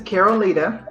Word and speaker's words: Caroleta: So my name is Caroleta, and that's how it's pronounced.